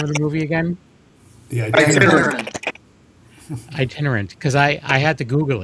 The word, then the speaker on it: Itinerant: If we don't talk to you before then, and be on the lookout for how do you pronounce the name of the movie again? Yeah, Itinerant, because I had to Google it because I'm